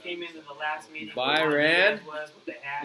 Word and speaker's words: Byron: Byron. Was with the hat? Like Iran. BYRON. Yeah. Palo Alto. Oh. It rhymes with Iran.